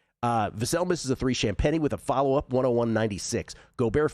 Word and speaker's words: Champagnie: Champagnie. I was going to say Champagny for a second. That's what we used to call champagne back in the day. Uh Vassell misses a three. Champagnie with a follow-up, 101-96.